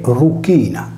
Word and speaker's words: Erycina: romani vene denominata anche Venere Ruina pronunciato in sardo e Ruina letteralmente Venere della Croce